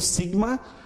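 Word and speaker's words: σίγμα: Olha como é que o seu nome em grego, sigma, a pronúncia sempre S, mais sibilante. Nunca vai ter o som de Z, como em português às vezes, né?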